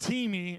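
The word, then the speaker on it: τιμή: The word, it's pronounced timi in the Bible, but it basically means to highly value, highly esteem, to put above almost everything else or above everything else.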